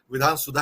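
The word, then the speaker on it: विधान सौध: मैं आपको बता दूं, कभी आप ये मत सोचिएगा कि मैं गलत उच्चारण कर रहा हूं, विधान सुधा ही कहा जाता है।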